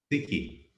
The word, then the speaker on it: Ziki: Ziki, is that how you pronounce it? Siki. Ziki. Siki. Siki.